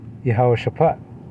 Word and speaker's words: Jehoshaphat: But this is basically pronounced as Yahweh Shaphat.